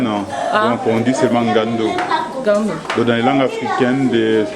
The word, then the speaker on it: Ngando: Parce que le ngando, comment vous le prononcez le En fait, on ne prononce pas les N, donc on dit seulement ngando. Gando.